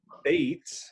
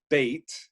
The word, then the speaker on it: Beit: see the Hebrew letter Beit, B-E-T or B-E-T-H, and it is pronounced in English with a B sound or a V sound.